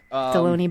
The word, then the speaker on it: Delony: Yes, Deloney? It rhymes with a lunch meat.